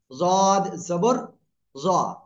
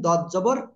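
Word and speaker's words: ض: জিব্বার গোড়া উপরের মাড়ির দাঁতের গোড়ার সঙ্গে লাগান, এপাশ এপাশ যে কোনো পাশ লাগান, লাগিয়ে উচ্চারণ করবেন জদ জবর জ। আর যারা বলতেছেন দদ জবর, কি বলবেন, দ না দা, একটু খেয়াল রাখতে হবে এটা, হ্যাঁ।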